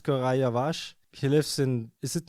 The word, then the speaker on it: Koray Yavaş: He told us how to pronounce his name. It's Koray Yavaş.